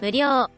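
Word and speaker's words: 無料: 그 대표적인 예가 바로 무료가 無料、 있습니다. 다만 엄밀히는 料、 가장은인 료로 발음돼서 약간 한국어보다 길게 발음해 주어야 합니다.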